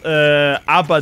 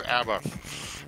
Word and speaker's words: ABBA: So this is the best ABBA demo.